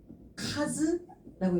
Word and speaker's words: 数: 얘가 음독으로 읽으면은 스가크 스라고 읽어주게 되는데 혼자 나오게 되면은요. 얘를 카즈라고 읽으셔야 돼요.